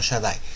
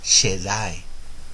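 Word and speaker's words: שַׁדַּי: para el nombre todopoderoso podría ser el shed no Shadai shedi sí esto por no haber vocales en el hebreo se puede pronunciar así también Shadai es es She es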